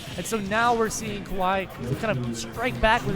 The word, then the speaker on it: Kawhi: For example, like I'm seeing, how do you pronounce his name? Kawhi, Kawhi, yeah. Kawhi.